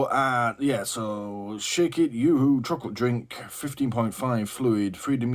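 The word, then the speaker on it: Yoo-hoo: is a bottle of Yoohoo chocolate drink I mean it just pronounced YooHoo yeah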